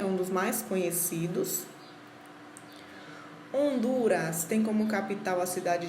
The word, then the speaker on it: Honduras: dos mais conhecidos a honduras tem como capital a cidade de tegucigalpa gente lisa hondurenho hondurenha percebam que esse h ele não é pronunciado você já sabem devem